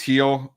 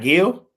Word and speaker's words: Gil: You know, Luis Heel, pitch I like in this rotation, but problem is the walks are getting up there for Heel over the last couple starts. It's Heel, not Gill. It's Heel.